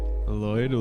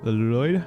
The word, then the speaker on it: Lloyd: Fun fact, Lloyd isn't pronounced the way we usually pronounce it because it's Welch. Lloyd Lloyd.